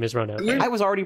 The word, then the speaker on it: Ronove: I was definitely a Ronove until I realized that it's actually kind of important that his name is 3 syllables long.